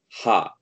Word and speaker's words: は: So you should pronounce it as ha when it is used in a noun. はい、 use as a part of a noun.